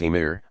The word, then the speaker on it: emir: Not long after Arab troops began to occupy the Iberian Peninsula, Muslim princes, called amirs, literally commanders, pronounced emir, established themselves in major cities.